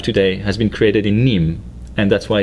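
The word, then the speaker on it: Nîmes: name c is to think about denim denim denim the textile you have today has been created in Nim and that's why it's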